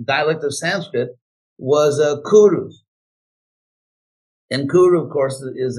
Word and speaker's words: Kuru: If you look at these ancient languages, it's a typical, they call it centum kentum, that sometimes they pronounce the C like K, sometimes they pronounce it like the S.